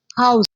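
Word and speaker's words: house: ऐसे ही हाउस। अब जो हाउस है इसमें एच जो है वो साइलेंट नहीं होता, ठीक है। इसकी वॉइस एक्टिव है, साउंड एक्टिव है, एच की आवाज ही आती है इसलिए इसके साथ ए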